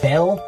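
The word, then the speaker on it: Bel: Bale. That's another pronunciation of Baal, a pagan god and a symbol for the devil.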